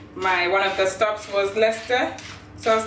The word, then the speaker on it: Leicester: But Joe's mom hates it when I pronounce words as they are, because in England, instead of Leicester, it's spelled Leicester, but you say Leicester.